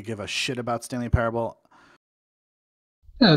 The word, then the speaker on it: Parable: from the makers of Stanley Parabola. Or how do you say Parable? Parable, yeah. Parable, like a Bible, a parable.